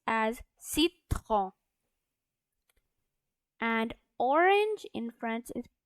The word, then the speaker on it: citron: And lemon in French it's pronounced as citron.